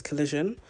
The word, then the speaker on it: collision: I keep saying collusion but it's collision.